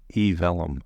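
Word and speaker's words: eVellum: yeah all right yeah I say it like email E Vellum e Vellum okay vellum's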